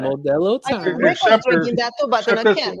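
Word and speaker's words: Modelo: You gota say it right. Modello that I can.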